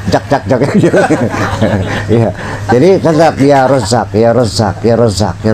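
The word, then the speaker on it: يا رزّاق: Bacanya ya razzaq. Awas ya razzaq. Jangan ya rzaq.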